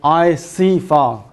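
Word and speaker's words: ICFAR: so similar as the we pronounce as the I see far seems like the I see far away so that's the good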